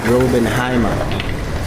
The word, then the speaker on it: Raubenheimer: How do you pronounce it? Raubenheimer.